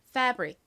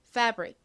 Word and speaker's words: fabric: 그래서 이 단어의 발음은 fabric입니다. fabric. 이 fa 부분에 강세가 있어요. 그래서 강조해 주세요. 따라해 보세요. fabric. 한 번 더 해볼까요? fabric.